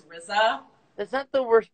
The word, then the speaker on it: RZA: I literally pronounced it RZA and he was like, hey Erin, it's RZA.